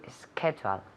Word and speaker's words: schedule: To schedule. Perfect, excellent. To schedule. To schedule. Ok, now notice, fijaos muy bien en la pronunciación de la palabra.